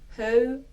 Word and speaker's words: höyry: So höyry. O. Remember, if you have trouble with this O combination, go check the video out that I made about this before. O, and then R. Remember to roll your R's. Practice rolling your R's if this is difficult. Höyry.